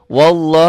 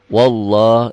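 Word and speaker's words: والله: yang berbunyi seperti ini lafad Allah yang sebelumnya baris di atas seakan-akan ada w-nya wallah wallah jangan wallah wallah bismillah Iya lillah Iya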